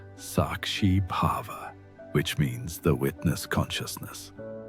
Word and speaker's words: sakshi bhava: what the ancient texts call sakshi bhava pronounced sakshi pava which means the witness consciousness.